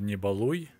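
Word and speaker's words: Не балуй: Here we got another nicely done poster called Nibaluy. One of my favorite verbs in Russian language, Nibaluy, because it rhymes with word hui.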